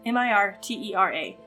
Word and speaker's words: Mirtera: two syllables so let's just drop the second syllable entirely and also um yeah so we're going to call it m-i-r-t-e-r-a mirtera that is the name of our continent